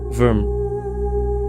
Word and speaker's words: vvyrm: I use the term worm a modified version of worm even though the root of the word worm came from worm I know it sounds weird because all of them pronounce like worm the desert worm is